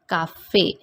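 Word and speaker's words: café: one example is given cafe accent igu we can found on letter e and that is the reason this word is giving the sound of a and it is pronounced like caffei second accent is luxon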